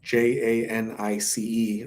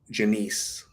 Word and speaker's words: Janice: some but um that's how she spelled her name j-a-n-i-c-e right like Jan ice or like ju nice but she she pronounced it Janiece but some people are like Janice I don't know Danielle